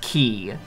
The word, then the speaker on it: Chi: I don't remember that that is the Greek letter Chi Joey which this game opts to pronounce as key there is so stup